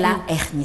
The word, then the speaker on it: hernie: Ah, c'est pas l'hernie. Non, c'est pas un H muet, c'est un H... c'est ça, non? Le haricot, c'est un H muet ou H quoi? Aspiré. Aspiré. Et là, c'est aussi un... Non, c'est un H qui est muet. On dit la hernie, pas l'hernie.